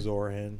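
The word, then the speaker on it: Zohran: You say it better, Zaran. Zoran.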